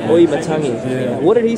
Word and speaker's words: Auimatagi: Tell him how it's pronounced. Auimatagi. Auimatagi.